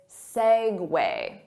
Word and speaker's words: segue: Well, it's not segue, it's segue. Segue. So the syllable stress is on segue.